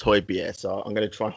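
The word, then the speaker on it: Højbjerg: you know we're signing hoybier or hoiberg or however it wants to however it's pronounced i was saw somewhere today that is pronounced holy beer so i'm going to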